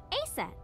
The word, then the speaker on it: Aset: horse's mom is named Isis but in ancient Egyptian it's pronounced closer to ISA or aset oh H how do